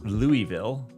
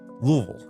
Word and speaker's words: Louisville: fine citizens call it Louisville just you just kind of slam it all together and forget that there's an S or an I in the middle of it and if you do